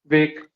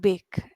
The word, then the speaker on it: wake: Wake. Wake and not bake, right?